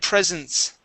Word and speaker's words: presence: word here uh my presence my presence was my presence was okay yeah and it sounds like uh I received many presents for my birthday right um but yes